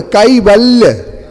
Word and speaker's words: कैवल्य: अशिष्यमो कैवल्य विभूति सम्राट केवल नहीं बोले, कैवल्य।